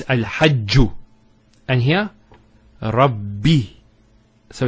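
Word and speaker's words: رَبِّ: The first ba takes a sukun, and the second takes a kasra. So it's Rabbi.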